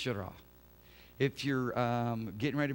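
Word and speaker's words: יראה: It's a much easier word to pronounce. Yirah.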